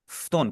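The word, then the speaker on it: 布団: फ्तोन, कोशिश करें ऐसी आप Puton, आवाज निकालें, बीच वाला यू जो है ना, यू को आप पढ़ेंगे ना, इसे आप पढ़ें फ्तोन।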